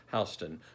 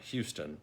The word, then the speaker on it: Houston: So I ultimately, and I believe wisely, decided to opt out of cocktails at Beverly Hollingsworth Houston's house, pronounced Houston, not Houston, like the city in Texas.